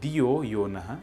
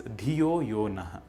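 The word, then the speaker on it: धियो यो नः: It is not Dhiyo Yonaha, it is Dhiyo Yonaha. A few people have difficulty pronouncing Sa.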